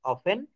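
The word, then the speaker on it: often: অর্থাৎ অ্যাজ অফেন অ্যাজ, এখানে অফটেন বলবেন না। এগুলা কিন্তু আপনাদেরকে আমি শিখিয়েছি যে সাইলেন্ট লিটার এখানে টি, এর উপরেও কিন্তু ক্লাস আমার ছিল। অ্যাজ অফেন অ্যাজ, অফটেন না।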